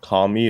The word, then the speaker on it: KAM1: So one that I thought was really gonna do well was something called Kami. It's spelled KAM1 .com.